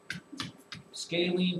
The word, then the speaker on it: scalene: that is taking shoot rhymes with kaylene yes scalene triangles have 0 equal